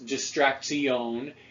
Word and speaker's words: distraction: and that that's because words like distraction could be pronounced in herrick's time as distraxion and Herrick isn't the